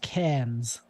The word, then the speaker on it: Cairns: Yeah, it's spelled Cairns and it's pronounced Cairns.